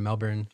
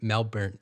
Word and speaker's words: Melbourne: of Yarra Valley which is just outside of Melbourne Australia in the province of Victoria yeah thank